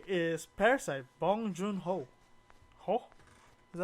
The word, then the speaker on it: Bong Joon-ho: Anyway, my number 1 directing, my favorite, I would say, is Parasite, Bong Joon-ho. Is that how you say it? Bong Joon-ho.